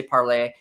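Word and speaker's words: Parler: a million different ways but i'll call it parlor even though the the french student in me wants to say parlay but you know um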